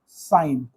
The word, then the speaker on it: sine: सिन, short form है सिन, लेकिन पढ़ते हैं इसको साइन ही है, ठीक। यहाँ से भाई इतना तो आप लोग ज़्यादा अंग्रेजी जानते हो मुझसे, यहाँ पे ई लगा हटा दोगे तो ये इसका प्रोनाउंसिएशन चेंज हो जाएगा। तो ये हो गया सिन, बट बोलेंगे इसको साइन, और इसको लिखते हैं